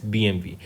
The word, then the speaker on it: BMW: group BMW नहीं बोलते हैं स्टूडेंट्स इसको BMV प्रोनाउंस करते हैं राइट लिखा BMW जाता है बट इट इज़ BMV correct ये सक्सीड करेंगे विक्रम पावा को ये